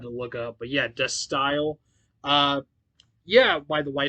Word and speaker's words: De Stijl: to look it up and they all said dust style is how you is the pronunciation of this album i think i used to call it d steel but i had no idea how to actually